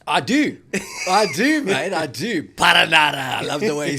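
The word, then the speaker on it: Perenara: Okay, how do you pronounce the New Zealand number 9's name? Paranara!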